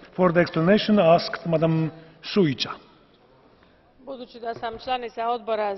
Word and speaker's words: Šuica: Is that the correct pronunciation? Šuica? Yes, you are right.